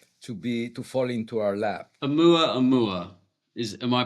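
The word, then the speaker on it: ʻOumuamua: Oumuamua, am I pronouncing it correctly? Oumuamua, yes, it's a scout in the Hawaiian language.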